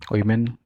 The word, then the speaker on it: woman: वुमन, वीमेन, एंड बहुत सारी गलत पढ़ा था इसको. The correct form is this is वुमन, ये है ना वुमन, VUMUHN, वुमन, ठीक है?